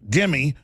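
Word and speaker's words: dhimmi: Dimmy, pronounced dimmy.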